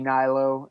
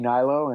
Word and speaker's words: Hnilo: It's a little different of a spelling, but the H is silent.